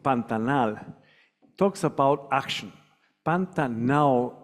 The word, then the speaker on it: Pantanal: in the world um this event called panta now which resembles the actual pronunciation of pantanal talks about action pantanal